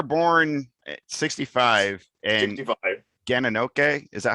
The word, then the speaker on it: Gananoque: Yeah, is that how it's pronounced? Gananoque, Ganaoque. Gananoque.